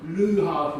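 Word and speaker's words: רוח: 하나님의 영은 르하흐 이렇게 부릅니다. 우리 한번 따라서 한번 하겠습니다. 네샤마, 르하흐. 이 히브리어는 이게 뭐가 걸리는 것 같은 그런 발음이 나와요.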